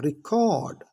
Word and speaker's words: record: रिकॉर्ड, कॉर्ड, कॉर्ड जब हमने बोला तो वो वर्ब बन गया।